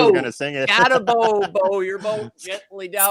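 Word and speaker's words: Skattebo: Scataboo, bow your boat gently down the stream. See, it doesn't even work when you say Scataboo, because we murder names over here, man. Rhyme with bow or row.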